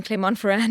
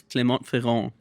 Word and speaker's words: Clermont-Ferrand: the beginning of the year, which is in Clermont-Ferrand in France. Okay. It is. I'm pronouncing it incorrectly, Jordy. Sure. it's Clermont-Ferrand.